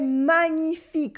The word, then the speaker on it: magnifique: Or c'est magnifique or magnifique. That's wonderful. C'est magnifique. Repeat after me. C'est magnifique. Here we have the tricky ñ sound in the middle. Magnifique. Again, magnifique.